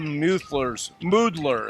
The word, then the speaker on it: Moodler: A lot of Moodler, it's pronounced. I was informed that by their father, Scott.